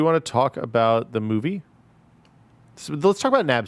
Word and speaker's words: MoVI: It's spelled weird, but pronounced movie.